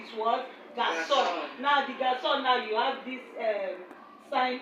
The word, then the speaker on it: garçon: Now the garçon, now you have this sign under, okay, and it's always pronounced as garçon.